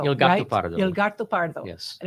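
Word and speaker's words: Il Gattopardo: Anyway, so Alan, Il Pardo. No, I said it wrong. Gatto Pardo. Il Gatto Pardo.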